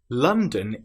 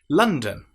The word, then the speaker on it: London: London is beautiful in the springtime. London. What sound is in London? It's not london as it looks like it should be.